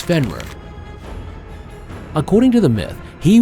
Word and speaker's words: Fenrir: destruction of the Gods the pronunciation of his name is fenworth according to the myth